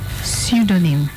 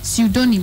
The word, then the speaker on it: pseudonym: o n y m how much did you pronounce it as pseudonym it's pseudonym unless you go because it's the sound it's